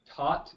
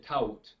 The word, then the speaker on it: taught: Otra cosa, fíjese que la palabra taught no se pronuncia tout, sino como si fuera T-A-T, taught. Taught. Yeah. Self-taught. Exactly. Hay una G, H y U allá que no merecen existir.